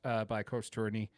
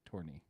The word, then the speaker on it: Tourigny: That just tells me we got some smart moves by Coach Tourigny to really turn things around. By the way, I've heard the G be silent in his name, Tourigny. Yeah, Tourigny.